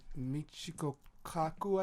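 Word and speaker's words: Michio Kaku: It's like Dr. Michiko Kaku, I believe his name is, something like Yeah, that. you pronounced it right.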